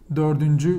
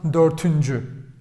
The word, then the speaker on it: dördüncü: Even if it's 14th, it will be still dördüncü, which is like 14th. I hope you see it on the camera. Let me check. Great. Tamam, 14th or dördüncü. Doesn't matter. Dördüncü. Tamam mı? Dördüncü. Not dörtüncü.